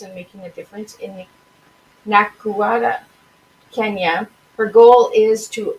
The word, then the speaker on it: Nakuru: So how do you pronounce the Nakuru? Nakuru, Kenya. Nakuru, Kenya.